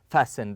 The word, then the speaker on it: fasten: seat belt okay we fasten the T here is silent we fasten the seat